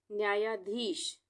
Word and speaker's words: न्यायाधीश: इसको हम अलग अलग तोड़ के पढ़ेंगे। न आधा है तो यानी कि न का आधा उच्चारण हो रहा है। न्याया, इसको हम पढ़ेंगे न्याया, न्याया, न्याया। उसके बाद धीश, धीश, न्यायाधीश।